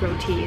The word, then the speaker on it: roti: Roti, I guess you said roti. That's how you pronounce it.